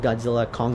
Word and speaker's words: Godzilla x Kong: Kong the new Empire the x is silent as the Director just calls it Godzilla Kong the new Empire but the X stands